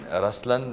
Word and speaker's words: Ruslaan: yeah so even in raslan when you say raslan also means the LI it's the attitude of am but the right pronunciation is rlan okay there is so